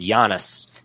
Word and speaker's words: Janus: But in, I think it's Latin, it's pronounced Janus.